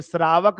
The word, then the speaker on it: श्रावक: कोई नहीं ना बोलेगा श्रावक बोलने के लिए उसको रुकना पड़ेगा ड़ ठहरना पड़ेगा तब उच्चारण करना पड़ेगा ये श्रावक जो है ना श्रावक ना होकर के व सरक हो गया समझ में आया बात